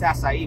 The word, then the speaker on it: açaí: I mean, everyone eats acai, but they don't even know how to say it, and they don't know it's from Brazil. Oh, I love this acai smoothie.